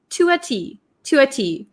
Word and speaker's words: to a T: listen to the pronunciation so to a t when we say it very quickly it sounds like to a to a it almost sounds like one word right to a to